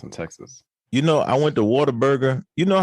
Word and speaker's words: Whataburger: It's like what a burger.